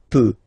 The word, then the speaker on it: peux: as usual, so je peux, okay? Final X not pronounced here, okay, so you get X but you don't pronounce it, so basically you get the sound peut, je peux, okay, so I can, je peux, okay.